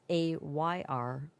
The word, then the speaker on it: Ayrloom: Not spelled like heirloom, it's Ayrloom.